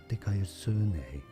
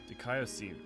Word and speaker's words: δικαιοσύνη: Dikaiosune. Dikaiosune. Everyone keeps saying Dikaiosune, but keep on saying Dikaiosine.